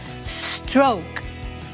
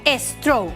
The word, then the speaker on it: stroke: pressure high blood pressure stroke stroke not estro no no stroke diabetes diabetes unhealthy unhealthy